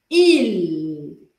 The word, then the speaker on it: il: Je, tu, il. Tenho que falar esse L, tá?